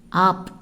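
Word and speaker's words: आप: நீங்கள், ஆப்.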